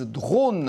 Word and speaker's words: Drawn: Cette machine révolutionnaire, eh bien, on la doit à un ingénieur et un designer lyonnais qui ont créé leur entreprise Drone. Alors, ça ne s'écrit pas D-R-O-N-E, mais D-R-A-W-N, qui signifie dessiner en anglais.